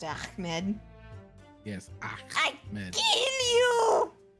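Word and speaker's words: Achmed: I mispronounced it. Ahmed. It's Ahmed.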